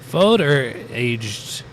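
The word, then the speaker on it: foeder: This fooder, that's how you pronounce it.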